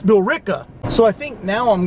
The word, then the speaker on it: Billerica: But I mispronounced your smoke shop name. It's Billerica.